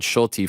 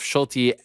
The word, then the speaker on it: Schulte: They pronounce Schulte, by the way, New York Rick. They don't say Schult. They pronounce the E.